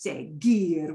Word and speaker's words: seguir: That U has a job to just sit there and make the G go to a g sound. Okay. And the U is not pronounced. So its only job is to sit there and make G go into a hard sound, because C-I-G-E-S would be C-G-E-S, but it's seguir.